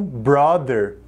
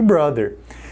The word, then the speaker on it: brother: para a palavra irmão muitos brasileiros falam brother provavelmente por causa do big brother mas a pronúncia correta dessa palavra é brother brother e o mesmo seguindo